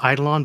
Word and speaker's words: eidolon: this one what is needle on yeah right I go with eidolon but different people pronounce it differently and I didn't invent